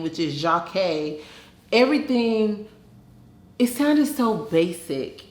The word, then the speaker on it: Jocque: It's hard for people to say, which is just 2 syllables, and it's not hard for people to say.